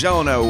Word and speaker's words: Gelinas: I am Gelina. And I'm Tuhon Film Gelina. That is Gelina with a gel and not a Jen.